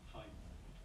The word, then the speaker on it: Fiennes: Fine. I never know how to pronounce it.